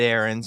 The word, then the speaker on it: Arends: our guest today David erens because they they spell the name differently although it is pronounced the same way good morning Jason Bo